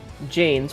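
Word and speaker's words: Jains: Jane Janes pronounced Jane sweep in front of them to prevent themselves from accidentally stepping on animals.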